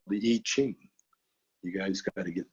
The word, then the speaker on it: I Ching: But again, I Ching, it looks like I Ching, but the I is pronounced E, I Ching.